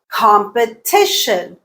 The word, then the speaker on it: competition: Competition, competition. T is the stressed syllable.